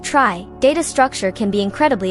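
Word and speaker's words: trie: For scenarios where you compare one string against many in a dictionary using a tree pronounced try data structure can be incredibly efficient.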